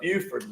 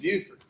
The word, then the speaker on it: Beaufort: correct your pronunciation but the mayor of Beaufort was once asked is it Beaufort or is it Buford and he said you never Sing America the Beautiful so you'll never make that mistake again our opening